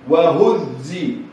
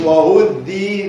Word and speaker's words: وهزي: وهزي وهزي زي، ما قلتش وهدي ذي.